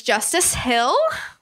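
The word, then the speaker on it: Justice Hill: know you're gonna say his name is Justus Hill he's a rookie from Oklahoma State it sounds like Jonah Hill it does like that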